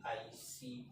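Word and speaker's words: eicosa: नोना deck सी 20 ई आई सी ओ एस आईकस बोला जाता है या इसकी स्पेलिंग एक और होती है आसा बोला जाता है इसको आईसा ठीक 20 तक का काम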